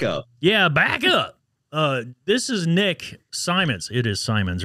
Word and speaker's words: Simons: up yeah back up uh this is Nick Simons it is Simon's right did I have I